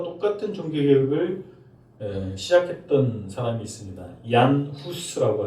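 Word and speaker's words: Jan Hus: 얀 후스라고 하는, 영어식 발음으로는 존 후스입니다.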